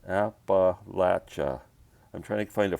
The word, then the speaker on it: Appalachia: and the another piece that sam gave me apple latcha that's the way it's pronounced not appalachia app latcha i'm trying to find a frame for that